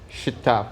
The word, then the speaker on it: Shqiptar: How do you say it in Albanian? Shqiptar. Shqiptar. Exactly. Shqiptar. Exactly, man.